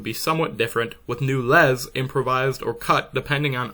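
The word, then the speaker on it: laisse: a similar structure and I have the unfortunate habit of pronouncing lessor lessons in the very French manner so anytime you hear me say the word les this is what that is referring to while today the story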